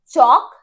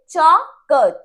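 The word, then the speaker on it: chalk: चौक, एल की sound नहीं आ रही, चौक, चौक, ठीक है।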